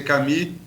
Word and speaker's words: Camus: No caso, Camus escreve, pronuncia Camus, no seu livro A